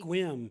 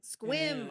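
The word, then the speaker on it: Sequim: and play if they would just actually Squim. Squim.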